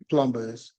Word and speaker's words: plumber: what they call them plumbers okay all right plumbers okay they say don't pronounce the b so plumber okay plumber they call